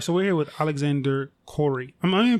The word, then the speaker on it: Khoury: Stephanie marina all right so we're with Alexander Corey am i pronouncing your name right yeah Alexander Court you